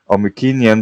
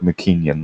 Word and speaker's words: Mycenaean: I like to pronounce it Mycenaean because actually in Greece they call it Mycenae, so with a K, not with a C.